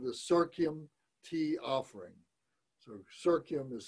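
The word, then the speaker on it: Serkyem: This is called the Serkium Tea Offering. So Serkium is spelled S-E-R-K-Y-E-M, Serkium, tea offering.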